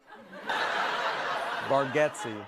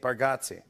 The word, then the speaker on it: Bargatze: I told you, I think you say our last name correct with Bargatze, and I think we say it wrong as a family. Bargatze. For years, I've been calling you Nate Bargatze.